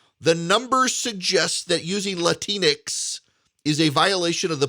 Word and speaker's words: Latinx: using Latinx is a violation of the political Hippocratic Oath,